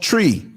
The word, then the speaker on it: Twi: with the language called tree it's spelled Twi but it sounds like tree like a tree that you hug or urinate on and there different dialects